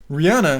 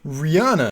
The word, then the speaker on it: Rihanna: you probably just heard Rihanna pronounces her own name Rihanna however if you're from America you probably pronounce Rihanna Rihanna now this is definitely